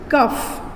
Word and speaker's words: cough: COUGH का pronunciation है कफ, COUF, कफ, sound आ रहा है कफ। ROUGH साउंड आ रहा है रफ, रफ। LAUGH, लाफ, LAUGH, लाफ। ENOUGH, इनफ।